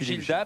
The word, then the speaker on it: Gildas: la journée de philippe gildas parce que je vous rappelle le s ne se prononce pas assez gildan t.gil d'art